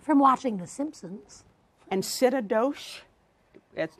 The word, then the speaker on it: synecdoche: And synecdoche? That's not how it's pronounced. Synecdoche.